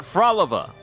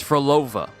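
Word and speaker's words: Phrolova: So apparently I've been mispronouncing her name. Flova. It's not Frolova. It's Flova.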